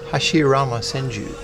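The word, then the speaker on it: Hashirama Senju: Hashiama Senju. You like how I said that? That's the actual pronunciation.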